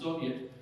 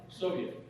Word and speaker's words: Soviet: know experts who form a council which in russian is pronounced soviet that they're going to